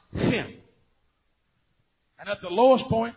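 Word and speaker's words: חן: You spell grace H-N. And it's pronounced Hin.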